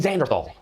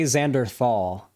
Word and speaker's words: Xanderhal: And it was featuring Brittany and Xanderhal, okay, or Xanderhal, I believe is his name. Brittany is the host of Politically Provoked. And Xanderhal, I believe... Why does everybody say Xanderthal?